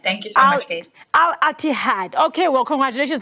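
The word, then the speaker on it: Al-Ittihad: Yeah, it's Al Itihad. Thank you so much, Kate. Al Itihad.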